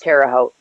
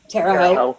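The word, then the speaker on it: Terre Haute: That's pronounced terote. Terote. Okay. Yeah, it is terote.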